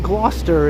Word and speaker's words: Gloucester: Depending on the day, I might pronounce the street 3 different ways. I think today I'm pronouncing it correctly, though. I think at one time I might have said Gloucester, another time I might have said Gloucester, another time I might have said Gloucester. I think Gloucester is the proper way to say it, though.